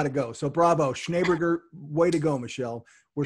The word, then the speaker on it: Schneeberger: So initially I was pronouncing it Schneeberger. And that's acceptable too. Apparently the two E's in German are an A-Y, and it actually means Schnee, S-E-H-N-E-E, means snow in German.